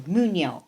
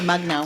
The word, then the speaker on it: Mugno: Christina, I'm going to butcher your last name, Mugno. You did it. I did it? I always say it wrong. I always call her Mugno.